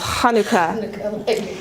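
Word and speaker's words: חנוכה: you say it and I pronounce things with the CH sound because it's it's in the back of your throat being raised in a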